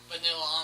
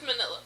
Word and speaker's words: Manila: And he's got pretty much this small vanilla envelope for you. Vanilla or Manila? However it's pronounced. I always thought it was vanilla for some reason. All right. That's Manila. Manila.